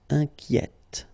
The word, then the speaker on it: inquiète: And so journalier will become journalière, or then inquiet, will become inquiète. Okay, so in that case, it's already open, the sound inquiet. Okay, so you only hear the T, inquiète.